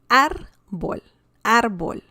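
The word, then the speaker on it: árbol: that means tree okay arbol and we have an accent mark because we have the stress on the second to last syllable and the word ends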